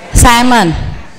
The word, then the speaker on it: salmon: Jadi bacanya apa? Salmon.